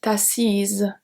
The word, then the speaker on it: assise: On s'est assise, z. So here the pronunciation is the same as if there is only a E. A S is pronounced exactly the same.